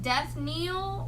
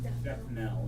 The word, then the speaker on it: death knell: It's like Death Kneel or Death Knell. Death Knell is how it's pronounced. Okay. I couldn't tell if that was 2 E's or 2 L's.